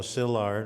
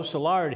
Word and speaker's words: Szilard: first language he sometimes called himself just Leo sillard or zard close to what I do with his name he lived 13 years